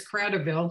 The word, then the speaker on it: Kratovil: Nope, it's Kratovil.